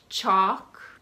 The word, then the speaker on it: chalk: ten words with a silent L talk walk chalk Bach Bach isn't that common it means to